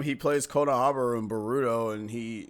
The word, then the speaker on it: Boruto: how did you say burrito why I'm sorry it's supposed to be boruto say Naruto that was boruto yeah it's boruto I'm sorry is it